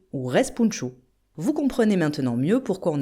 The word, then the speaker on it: respounchous: le net, mais attention, vous verrez écrit spounchous de façon phonétique, mais vous le savez, le O se dit ou et le N final ne se prononce pas. On écrit donc repunchu ou respunchu.